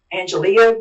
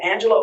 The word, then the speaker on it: Angelia: The current hold office holder, her name is Angela Ore and it looks like it's Angelia, but she pronounces it Angela Ore.